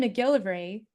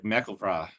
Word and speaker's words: MacGillivray: That the last syllable is the emphasis. So it's almost like MacGillivray or MacGillivray, not MacGillivray like we do, or I do at least.